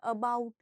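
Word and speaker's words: about: अगर हमें कहना अबाउट, हम कहेंगे अबाउट, पर वो एज इट इज नहीं यूज करेंगे। इस अ को क्या रखेंगे? एक सॉफ्ट टोन में रखेगा, अबाउट। ये वाला प्रोनाउंसिएशन होना चाहिए।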